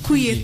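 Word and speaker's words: Kouyé: Donc, ça s'écrit K-O-U-Y-E accent aigu. K-O-U-Y accent aigu. Donc, couillé, comme on entend.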